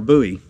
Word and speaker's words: Bowie: my Bowie or a Bowie I keep pronouncing my Bowie incorrectly is Bowie you know David Bowie Jim Bowie so yeah it's Bowie